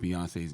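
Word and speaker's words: Beyoncé: A lot of black people feel like they don't trust you because you you mispronounced Beyonce's name. Have you learned to say it correctly yet? Well, you just said it correctly. Beyonce, right?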